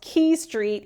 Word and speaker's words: Quay Street: And I just want to highlight that it is pronounced Quay Street, even though it's spelt like Quay.